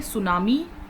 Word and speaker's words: tsunami: और आज हम बात करेंगे सुनामी से रिलेटेड। सबसे पहले तो सुनामी जो है वो प्रोनाउंस कैसे किया जाता है, सोनामी।